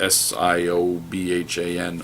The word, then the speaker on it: Siobhan: speak Irish and Gaelic so when you write s-i-o-b-h-a-n I know however I'm going to try to pronounce that is wrong huh Siobhan yeah I